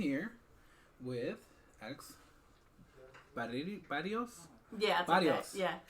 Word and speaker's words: Berrios: Yeah, Berrios. Yeah, Berrios. Yeah. Berrios. Yeah. Like so, like, roll the triple R's, right?